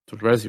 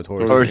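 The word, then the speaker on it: torzsi: I got Torrezi from Oz, however you pronounce it, Torrezi, right? Who? Torji. Oh, Torzi.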